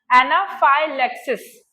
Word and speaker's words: anaphylaxis: Lactic, एनाफाइलेक्टिक हुआ, और एनाफाइलेक्सिस, एना वही एना, फाइ वही, अभी ये लेक्सिस की स्पेलिंग अलग हो गई, एल ए एक्स आई S, Lexus, एनाफाइलेक्सिस और एनाफाइलेक्टिक रिएक्शन, ठीक है, ये टाइप 1 रिएक्शन है हाइपरसेंसिटिविटी की।